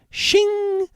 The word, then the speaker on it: Shing: Shing but I think you're supposed to say it like Shing you know like you're drawing a sword uh because this game